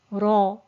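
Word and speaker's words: ر: with a second and if it has a fattah or a domna before it then it will be pronounced again with thickness so it has to be pronounced with thickness when it's with a fattah or a damma or when it's sakina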